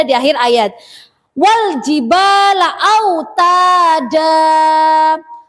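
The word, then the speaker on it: أوتادا: Wal jibala autada. Tidak boleh dibaca wal jibala autadan, tidak boleh. Jadi dibacanya itu seperti mat asli atau mat tobi.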